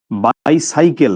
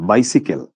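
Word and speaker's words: bicycle: আচ্ছা হ্যাঁ, এটা শুদ্ধ উচ্চারণ কিন্তু বাইসাইকেল না, বাইসিকেল।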